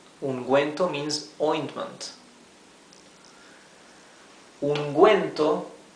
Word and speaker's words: ungüento: Ungüento, as you can see, we are pronouncing clearly the letter U because it has the 2 points, the diéresis. Ungüento. If we omitted these two dots, this would be ungento.